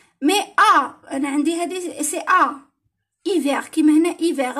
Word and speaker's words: hiver: مي أنا عندي هذه سي إيفير كيما هنا إيفير. الآش باللغة الفرنسية ما تتنطقش. صافي هنا راح تروح او اي او. هنا ما نقولوش ها.